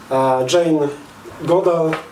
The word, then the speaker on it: Jane Goodall: Jane Goodall, bo tak się wymawia to nazwisko, badała bonobo.